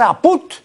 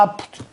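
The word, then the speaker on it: ápud: Entonces, si ven apud sin tilde, van a pronunciar apud. ¿Por qué? Por la ley de la analogía, porque como ellos dicen, nosotros decimos salud, entonces esto de acá también será pues así, apud. ¿no? Y no van a pronunciar nunca apt.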